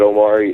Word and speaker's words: Omari: before I go ahead did I pronounce right your name I'm typical to I'm very famous to destroy all names in you know no you did good Omari is correct very good Omari please